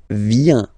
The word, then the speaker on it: vient: Il, elle, vient. Final T not pronounced.